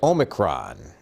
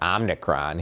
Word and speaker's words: omicron: bottom of the screen uh number one is omicron uh i just told my child that it's not omnicron he was adding the n so i bet